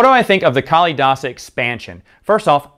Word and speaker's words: Kalidasa: I think of the Kali dasa expansion first off I didn't know how you pronounce the name because I never heard anyone say it i think it's kalidasa anyway I'm sure you're